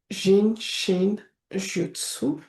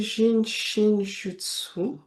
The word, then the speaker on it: Jin Shin Jyutsu: Et le jutsu en sachant que le u en japonais se prononce ou qu'on prononce pratiquement toutes les lettres.